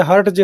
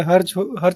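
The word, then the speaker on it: Hertz: ऐसे लोग जो है हर्ट्ज हर्ट्ज बोलते हैं, लेकिन वो रियल में हर्ज होता है उसका प्रोनाउंसिएशन, ठीक है।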